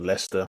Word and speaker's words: Leicester: I'm from a city in the UK called Leicester it's one of those annoying cities that is not spelled or pronounce anything like how it's spelled those one